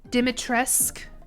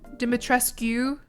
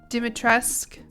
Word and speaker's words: Dimitrescu: Dimitresque. Dimitrescu. Dimitresque. U isn't pronounced in Romanian.